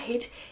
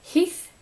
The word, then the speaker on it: Heath: reading the lab by Jack heat no not heat Heath Heath Heath yeah Heath anyways I'm sorry for the Mis pronunciation of his last name but it's spelled